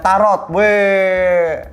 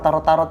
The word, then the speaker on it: taro: Ada Tarot, sebenarnya agak-agak PTSD sama tarot ini ya. Lu pernah ditarot nggak? Pernah. Bacanya itu bukan tarot, taro.